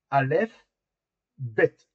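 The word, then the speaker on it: אלף בית: Mais quand on fait l'alphabet, on dit alf bête, hein. Vous voyez alf bête, hein. C'est comme dit alphabet.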